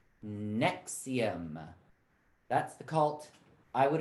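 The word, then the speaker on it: NXIVM: acid reflux drug nexium nx all caps and xivm pronounced nexium that's the cult i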